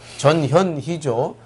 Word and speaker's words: 전현희: 예, 발음은 잘해야 돼요. 자칫하면 욕하는 것 같아가지고 전현희죠.